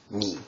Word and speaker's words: 二: for the number two so I'm sure that you've already guessed by now the pronunciation for this character is indeed me um the Goon reading however is pronounced fut so again stroke order